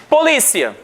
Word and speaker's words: polícia: Polícia, paroxítona, porque terminada em ditongo. Então nós temos última, penúltima sílaba e é a mais forte.